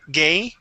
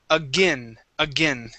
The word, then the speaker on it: again: Now on again, um we don't want to say again and pronounce a long a gay. Okay. We want to say a short i sound. Again. again.